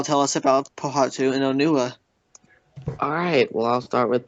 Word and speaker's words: Onua: Toa Metru is pronounced as Ottawa, and for the Toa of Earth, you basically emphasize the O, so it's Onua.